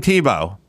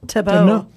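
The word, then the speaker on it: Thibault: Tim Tebow, even though it's spelled weirdly, it's just pronounced that way. Tebow.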